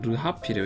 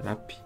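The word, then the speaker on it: -rrhaphy: 옛날에 저도 처음 할때 발음이 좀 어려워. 그냥 르하피를 외웠었는데, 이게 라피입니다. 라피.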